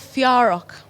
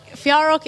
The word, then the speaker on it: Fiárock: We're called Fiárock. Okay, explain that to me. So Fiárock is two words in Irish that we kind of combine together.